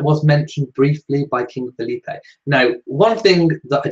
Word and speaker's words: Felipe: sure to be fair, is King Felipe pronounced Felipe or Philippe? Felipe or Philippe? I did find a YouTube video where it was mentioned as Felipe, and that was on a newsreel. So I went with Felipe, but if it's Philippe, let me know.